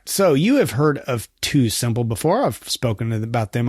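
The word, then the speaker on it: TuSimple: orders all right so you have heard of two simple before I've spoken about them on the podcast here that is spelled Tu Sim PL uh they are a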